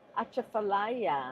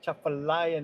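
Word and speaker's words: Atchafalaya: Achafallayia. The chafallayia. Say it right. It's a chafallayia. National Heritage Area. Achafallayia. It starts with an A.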